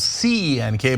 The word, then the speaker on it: Cenk: So my name is spelled C-E-N-K, but it's pronounced Cenk, and that's the original way you pronounce it in Turkish.